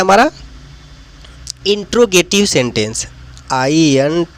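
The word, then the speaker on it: interrogative: अफरमेटिव sentence इसका उच्चारण है। और एक है नेगेटिव। ने नेगेटिव सेंटेंस और थर्ड पे आता है हमारा इंटेरोगेटिव sentence I एन टी आर O intro ji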